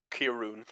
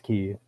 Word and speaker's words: Kiryu: Kirun. What? What? What? What? I don't understand. What? Probably I said his name wrong. Probably. It's this Kiryu. Or Yeah. Kiru. KIRYW. YU, goddammit. Oh, yo, wow.